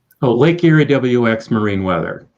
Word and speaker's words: LakeErieWX: Oh, LakeErieWX Marine Weather. Okay, you do pronounce WX.